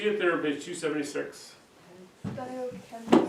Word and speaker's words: stoichiometry: Stoichiometry. How do you think you say that big word? Stoichiometry. You're actually supposed to get an oi in there. Stoichiometry.